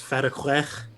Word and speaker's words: fatigué: Pronounced fatigué.